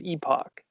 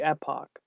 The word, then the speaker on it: Epoch: Depends on where you're at. If you're in the UK or Canada, it is Epoch. Right. So technically in American English, it would be Epoch.